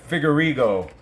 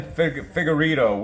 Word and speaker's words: Figueiredo: Davison Figueiredo. And that's how I pronounce his name, guys, because I'm new at this, and some of these guys' names I can't even pronounce. Davison Figueiredo.